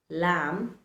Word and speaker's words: lamb: plum, thumb, plumber, dumber, the letter B remains silent. So instead of pronouncing climb, thumb, plumber, dumb, the right way to pronounce these words is actually climb, thumb, lamb, plumber, dumber, dumb.